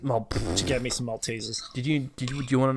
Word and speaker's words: Maltesers: don't have the packet okay so mold teases is spelled m-a-l-t-e-s-e-r-s which means it's actually pronounced maltesers hold on